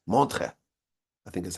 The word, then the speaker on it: Montreux: He was in a yeshiva in Switzerland, in a place called Montreux. It's spelled with like E's and U's and X's, but the X is silent. Montreux, I think is how you pronounce it.